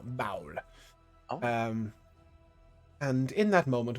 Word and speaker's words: Baal: Baal is spelt like B-double-A. Oh no. Okay. Interesting. H-A-U-L. Baal.